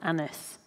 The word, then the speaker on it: Agnes: he names her as agnes um which in elizabethan times would have been pronounced a bit like the french that would have been anyes or anis um but i thought